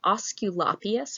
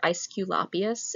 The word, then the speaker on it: Aesculapius: Aesculapius or Aesculapius is how Romans pronounced his name.